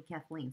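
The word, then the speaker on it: Caitlín: deck and I've been calling her Kaitlin Matthews it's wrong it's because of the spelling and the difference in the cultural pronunciation hurt her name's actually Kathleen so apologies to her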